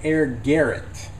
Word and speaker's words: Air Gallet: at a game called it looks like it says air gallot but it sounds like she's pronouncing it air Garrett now the uh the